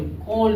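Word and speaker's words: cold: सी ओ इ एल डी कोल्ड इसको पढ़ते हैं। लेकिन एल का हो जाएगा साइलेंट है।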